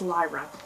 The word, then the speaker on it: Lyra: getting her name out but her name is Lyra and yeah um what is this whole trilogy